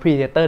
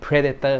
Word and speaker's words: Predator: จ จ ะ อ่ า น ว่ า Predator จ ริ ง ๆ มั น อ อ ก เ สี ย ง ว่ า Predator น ะ ฮ ะ ต้ อ ง อ